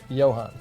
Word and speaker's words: Johan: Comes from Johan. Johan. Johan? Johan. Oh, the J is silent. Johan.